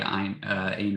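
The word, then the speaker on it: Ayn: discussion there objectivism by Ein Rand I don't know how to pronounce the first her first name um the happiness pump idea yes okay thank you she did it to sound like I um moral dessert and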